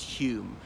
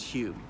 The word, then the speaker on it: Home: a philosophy faculty so his surname was was spelt home but pronounced Hume he then started to